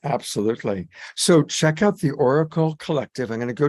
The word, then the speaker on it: Auricle: But again, if people are interested in learning more, it's the Oracle Collective, and that's spelled AURICLE Collective, Oracle Collective.